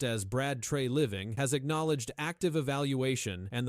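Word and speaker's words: Brad Treliving: For now, the confirmed facts remain clear as Brad Trey Living pronounced as Brad Trey Living has acknowledged active evaluation and the Maple Leafs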